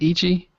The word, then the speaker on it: Ichi: up a darn screen is that how you pronounce it Ichi yeah it's means one in Japanese Ichi okay